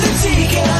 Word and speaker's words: ADIKA: It's Coffee Talk with ADIKA. Nothing rhymes with that but chicken tikka.